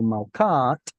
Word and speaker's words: malka: And then after it fell off, even the feminine tav dropped off as well, kind of like the silent T on buffet. So also malkat becomes malka. So tav goes away, and now we're just left with a vestigial hey at the end, malka.